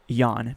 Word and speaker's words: Jahn: press conference about him, his name was being pronounced Jahn, not John, so I'll go with that.